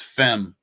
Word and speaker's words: fem: uh real quick uh in Norwegian the number five is pronounced fem f e n thank